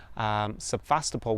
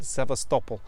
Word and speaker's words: Sevastopol: And I was in the city of Sevastopol, we pronounce it in English, but Sevastopol in Russian.